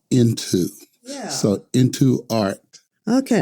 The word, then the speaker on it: Ntu: It is the letters NTU and it's pronounced into.